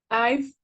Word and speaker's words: I've: Se pronuncia I've, así, ¿verdad? Correct. Yes. Like you have an F at the end, right? I've, like this.